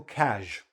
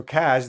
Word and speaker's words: cas: So cash, the S this is the phonetic spelling. If you know the word measure, if you know how to pronounce the word measure, this S is the same sound, cash.